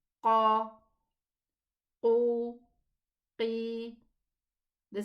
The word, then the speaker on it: qaf: Okay, what about the kaf? It's pronounced from the same area, almost the same area, but it is not elevated. We say ka and we say qa. The difference is recognized.